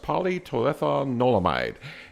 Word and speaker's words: Palmitoylethanolamide: pronounce the short name is paa and it's pronounced polyton olamide and this thing is an e endoc canabo